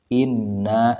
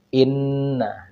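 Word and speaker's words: إِنَّ: praktikkan kita ambil contoh Inna nah di dalam Nun ini ada tasdid sehingga kita tahan dan tekan di ee huruf ini Inna didiamkan Inna Inna lalu kita ambil lagi contohnya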